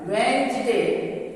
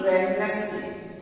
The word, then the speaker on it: Wednesday: तो इसमें एस का उच्चारण ज होता है, इसका सही उच्चारण है वेंसडे, ना कि वेडनेसडे।